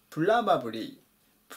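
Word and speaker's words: probably: てください 999 板プラバブリープラーバブリーアクセントに注意ですこのらのところ大のところにあります多分とかおそらく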